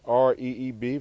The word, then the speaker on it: Reeb: Martin Luther King I hope you can see that a drawing 1929 to 1968 over here's the Reverend James Reeb pronounced Reeb few can read that